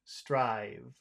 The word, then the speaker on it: strive: word that that that that V sound strive is that is that a sound that you push out or is that a sound that you eat the V is it you eat it so what does that